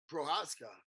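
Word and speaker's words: Procházka: at the champion uh Yuri uh prohaska did I say his name correct guys he did yeah yes I just went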